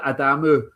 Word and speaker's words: Adamu: Oh yeah, Junior Adamu. I hear other people getting his name wrong, so I better not get it wrong.